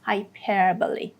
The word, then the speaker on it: hyperbole: No, it's hyperbole. The second syllable, the middle syllable, has the main stress.